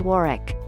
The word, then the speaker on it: Warwick: I was reminded that the castles name is pronounced Warwick but the castle has a dark secret well